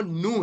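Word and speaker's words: nu: आ रहा है वो नू है, नू। और एन से एस का एन की तरह इसकी जो इसका प्रोनाउंसिएशन है, सो नू एज इन नेट, सो मू एंड नू।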